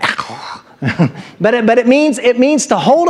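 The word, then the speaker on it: ἔχω: It's actually echo. You got to say it like that, echo.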